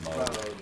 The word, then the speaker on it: Moog: That's pronounced Moog. Moog. Yeah, from this Get that right.